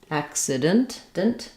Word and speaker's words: accident: It's spelled with two C's, but it's actually a K and a S sound. So I mentioned earlier that letter C can say either S or K in English. And in this word, each of these C's says a different sound. So the first C says the K sound, ack, and then the second C starts the second syllable and says the S sound.